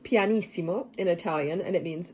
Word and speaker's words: pianissimo: term scene we have two p's which is pronounced pianissimo in italian and it means very soft one